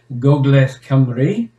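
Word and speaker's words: Gogledd Cymru: part of north wales or shall we say gogles camry as it should be pronounced which is one of the southern where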